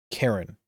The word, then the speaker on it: Charon: I'll probably say the worst is Chiron. Chiron. Chiron? Chiron? Chiron. Chiron is the horse. Charon. Charon. Charon. That's how it says. That is how it's said.